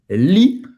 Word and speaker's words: lis: O S não se pronuncia no final. C'est toi qui lis, mon gars.